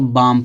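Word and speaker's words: balm: बाम क्यों उसको पढ़ेंगे देखो एल के बाद ए आया है आया कि नहीं आया आया है ना तो अब यहां प एल क्या होगा साइलेंट होगा तो इसको बाम पढ़ेंगे इसको बहुत लोग ल्क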